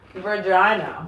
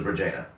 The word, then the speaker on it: Regina: It does sound a lot like vagina and spelled like vagina but with an R E. Regina. Regina. And I we all thought it was Regina.